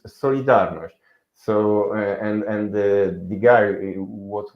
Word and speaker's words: Solidarność: The pronunciation of this movement is Solidarność.